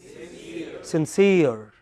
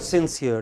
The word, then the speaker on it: sincere: c e r e what is it sincere okay it is not sincere it is sincere okay so there are